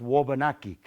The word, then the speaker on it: Wabanaki: to correct me but it's more accurately pronounced Wabanaki and that means the dawn